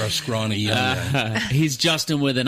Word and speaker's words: Juston: But it's pronounced Justin.